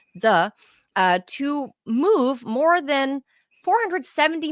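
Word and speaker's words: Sze: The bank allowed one criminal based in Queens, New York, David Z, I think it's pronounced S-Z-E, S-Z-E, Z, to move more than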